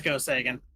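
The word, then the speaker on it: Go Seigen: got one for you is it Go Sagan it's go say again yes okay okay how to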